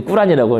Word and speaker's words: 꾸란: 그 코란, 옛날에 코란이라 그러지, 꾸란이라고, 이런 발음대로.